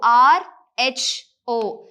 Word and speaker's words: rho: So this is called as rho, R-H-O. So rho is the pronunciation.